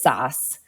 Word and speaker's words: Sass: um so the um my father came from Germany the correct pronunciation is sauce that said everyone who knows me before and after a certain period my nickname is SASS and so it's very